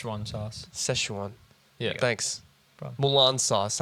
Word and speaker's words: Szechuan: Because I still don't know if I'm pronouncing it correctly. Yeah. Well, it's Szechuan sauce. Szechuan.